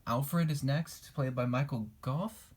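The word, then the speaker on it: Michael Gough: is next played by Michael Goff and that's how you say it great character in the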